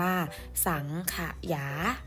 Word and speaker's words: สังขยา: ก็ คือ คำ ว่า สังขยา ค่ะ อ่าน ว่า สังขยา อ่าน ครั้ง นะ คะ สังขยา ใน เวลา อ่าน